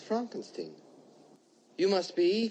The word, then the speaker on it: Frankenstein: so Al alive lips Dr Frankenstein Frankenstein you're putting me on no it's pronounced Frankenstein you must be eigor